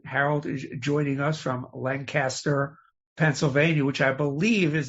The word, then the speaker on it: Lancaster: is it Lancaster or Lancaster? And it's, us locals call it Lancaster, K-I-S. I see. So. I see. Well, the rest of the world calls it Lancaster.